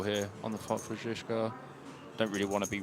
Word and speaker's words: Zizka: I officially went up to Martin Cabral and got the correct pronunciation. Zizka.